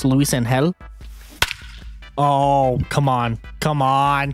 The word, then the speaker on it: Luisangel: But also, I looked it up, and instead of Luisangel, it's Luisangel.